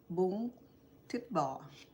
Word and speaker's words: Bún Thịt Bò: I know I won't be able to say it right, but it's called Bún Thịt Bò.